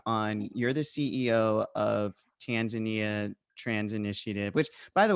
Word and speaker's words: Tanzania: It's Tanzania.